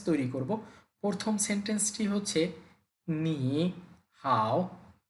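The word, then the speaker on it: 你好: প্রথম সেন্টেন্সটি হচ্ছে নি হাউ নি মানে হচ্ছে তুমি বা আপনি হাও মানে হচ্ছে ভালো তাহলে একত্রে নি হাও এইযে এখানে দুটি থার্ড টোন এজন্য প্রথমটিকে সেকেন্ড টোনে বলতে হবে উচ্চারণটা হবে নি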